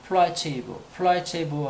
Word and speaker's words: placebo: 플레이시보라고 같이 읽는데 같은 철자인데 플라체이보 하면 카톨릭에서 죽은 이를 위한 저녁 기도라는 뜻이 있네요. 플라체이보. 그 다음에 똑같은 철자지만 이거를 플레이시보라고 읽으면 여러분이 잘 알고 있는 것처럼 위약이라고 그러죠. 위약.